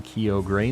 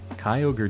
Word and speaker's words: Kyogre: gotta be kidding me we're not saying Kyo gray not in this house I'll turn this car around right now Kyogre just sounds sweet groudon's